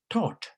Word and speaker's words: taught: and it is pronounced taught, UK, taught, US, taught. It has a T, okay, but the other one has a TH, which is pronounced differently.